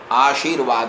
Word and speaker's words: आशीर्वाद: आशीर्वाद आशीर्वाद है।